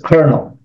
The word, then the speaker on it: Colonel: o n e l in America it says konel I think in UK